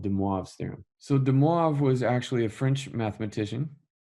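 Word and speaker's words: De Moivre: call deav theem so de moav was actually a French mathematician I know it doesn't really sound like it's spelled U but the French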